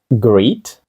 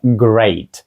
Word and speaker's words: great: Як вимовити ось це greet gre Ні це Great тобто це вже взагалі третій спосіб вимови даного звуку коли є літери І та Ей разом Отже в нас було і е а тепер взагалі a але Great ось такий звук a вимовляється тільки в даному слові Great у всіх інших буде